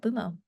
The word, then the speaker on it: Bumo: go with this name it's easy two syllables fun playful and that's how we got it got boomo I also thought to myself just like boom you know like just